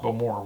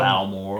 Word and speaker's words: Beaumont: Beaumont. Well done. The emphasis is on the more. Beaumont. Good. Go Beaumont. Yeah. Not Balmore.